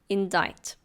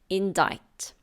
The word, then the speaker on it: indict: have the word indict indict it's a verb be careful of the pronunciation the C is silent it's indict to indict means to